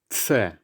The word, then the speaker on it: Ц: In Russian, you pronounce it tse. Tse. Okay, which makes the ts sound.